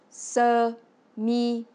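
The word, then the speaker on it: sơ mi: Pour dire la chemise, en vietnamien, on dit se mi, qui se prononce se mi.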